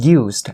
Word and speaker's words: used: Okay, for the word used, actually when you are pronouncing the word used alone, you say used, right? But then for the word used, it ends with the T sound.